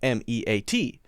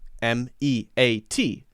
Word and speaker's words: meat: Usually, if you have two vowels together, they make the long sound of the first vowel, M-E-A-T, right? It's not meat, it's meat, E, right? Just like M-E-E-T.